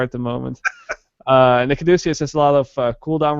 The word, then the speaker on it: Caduceus: I honestly think that when they made the Caduceus, that's how you say it, right? Caduceus? Yep, you got it.